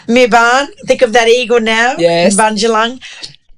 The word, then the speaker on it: Mibayn: Mibayn. Mibayn.